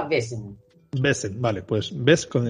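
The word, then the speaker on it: Vaesen: Según el autor, como esto es, creo que es Suecia, sí, sueco el autor, les digo que se pronunciaba Baesen.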